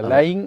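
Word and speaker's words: Hlaing: മീൻവോ ലയിങ് എന്നാണ് അദ്ദേഹത്തിന്റെ ലയിങ് എന്നാണ് എച് ഉണ്ടെങ്കിലും അതില്ല ഉച്ചാരണത്തിൽ ഇല്ല മീൻവോ ലയിങ് എന്നാണ് അദ്ദേഹത്തിന്റെ പേര് അപ്പോ അദ്ദേഹം അവിടെ പോയി അവിടുത്തെ ചൈനചൈ ചൈനീസ് പ്രധാനമന്ത്രിയെ പോയി കാണുന്നു അവരുമായി ചർച്ച നടത്തുന്നു.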